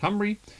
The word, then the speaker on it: Cymru: check on the Team Cymru. This is a strange Welsh name, so the Y is pronounced as a U and the U is pronounced as a Y.